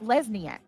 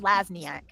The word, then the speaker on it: Lesniak: It's Lesniak. Not Lazniaak.